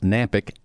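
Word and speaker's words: Knapik: living is on nampyk radio shows that's K and API K the K is silent I don't know why it's silent but it is bill nampyk radio shows many shows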